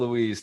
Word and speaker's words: Ruiz: How do you pronounce his last name, Mike? Don Miguel Ruiz. Don Miguel Ruiz.